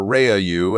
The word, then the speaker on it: Ra: Using the Stargate Rah or Reyu as they pronounced it brought thousands of people